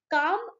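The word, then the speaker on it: calm: While काम, काम is a word जिसमें L silent है, okay, L is silent.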